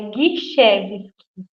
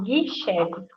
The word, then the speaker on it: Gischewski: Bom, a pronúncia do meu nome correto, mas que todo mundo dá uma escorregadinha por ser um nome complicado, é Guichevski. Eu brinco. Isso, Guichevski.